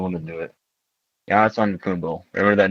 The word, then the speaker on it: Antetokounmpo: Giannis Antetokounmpo. Remember that name, and don't be Larry King, whatever, and pronounce No, it not Lumbo. it's Giannis Arambo.